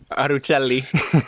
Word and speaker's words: Arucelli: I say it Arucelli, but because of how it's spelled, a lot of people say it with the Italian accent, which is Arucelli, except it's not how you say it, but I also